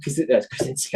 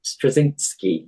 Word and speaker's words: Straczynski: John Michael Krasinski. I can never pronounce the name. Oh, what's his name? God damn it. J. Michael Straczynski.